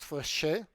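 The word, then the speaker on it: Fréchet: I'll say the distance the fch distance it's pronounced fche that is silent after a French mathematician The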